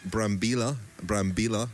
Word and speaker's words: Brambilla: There won't be one tomorrow, it's a rest day, but we still owe Brambilla, I'm saying his name correctly because we've been corrected today that we were not pronouncing his name correctly.